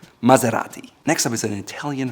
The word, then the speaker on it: Maserati: Next up is a luxury car, and many people here call it Maserati. However, it's called Maserati, Maserati, Maserati. It's not A, it's A, and it's R. Maserati.